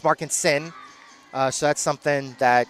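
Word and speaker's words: Markensohn: be confused by uh definitely Markinson who which is spelled M A R K E N S O H N. Uh again, Markinson, Markinson, it's Markin Sin.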